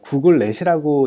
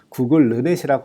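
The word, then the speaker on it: GoogLeNet: 구글넷이라고 읽기도 하실 텐데요. 정확한 발음은 구글르넷이라고 합니다.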